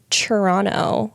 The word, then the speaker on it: Toronto: So, JP Saxe, born in Washington, D.C., raised in Toronto. I learned that that's how you actually pronounce Toronto. That's how, like, the locals say it.